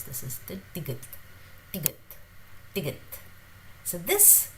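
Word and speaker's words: 디귿: So it's somewhere between D and T.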